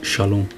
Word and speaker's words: shalom: እዛ ሰላም እዚኣ ሻሎም እያ ትብል Den här friden uttalas shalom.